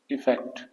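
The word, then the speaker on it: effect: अगर हम बात करें तो अफेक्ट का प्रोनाउंसिएशन होता है अफेक्ट, कुछ इस तरह से, और इफेक्ट का प्रोनाउंसिएशन होता है इफेक्ट, इस तरह से।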